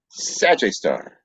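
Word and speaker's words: Sgr A*: after it or sgr a star which is pronounced sag star so sag star is the super massive black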